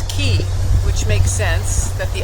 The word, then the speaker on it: Cay: everything else that are little droplets are cays like the Florida Keys. Just spelled c a y s.